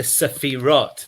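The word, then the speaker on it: sefirot: good good good that that is the problem of the safirot that's the way to pronounce it and that that Zach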